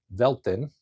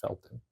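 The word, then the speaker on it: Velten: Eliminate this guy and take Vet Velton or Feltton should be pronounced Felton. It's a V.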